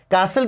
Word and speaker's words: castle: कासल की बात कर रहे हैं तो ये तो सिंगुलर है, इसमें टी साइलेंट होता है।